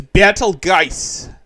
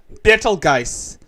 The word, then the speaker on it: Betelgeuse: Yeah, because that's how it's spelled in the movie, but it's Betelgeuse. Betelgeuse. Or goose. Going around in a circle like this. So, But yeah, she's pronounced it Beetlejuice.